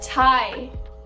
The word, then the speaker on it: Thai: me where's the thigh she thinks thai t is thigh man you don't pronounce the h my friend said i